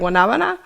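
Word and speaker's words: guanábana: Guanabana.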